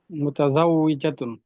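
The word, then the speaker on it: مُتَزَوِّجَةٌ: মুতাজাউইজাতুন। মুতাজাইজাতুন। জনাজা, মুতাজাউইজাতুন। মুতাজাইজাতুন। আপু মুতাজা জা, মুতাজাউই, জাউইজাতুন। মুতাজাই। ওয়াওতে দুটা উচ্চারণ হবে, যাও উই, উই, জাউইজাতুন। জাতুন।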